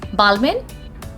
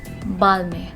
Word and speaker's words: Balmain: world but hey what how are we going to pronounce it balmain no not at all it is going to be balmy b-a-l-m-a-h we are not going to pronounce pronouns n over here and is going to be silent and we are going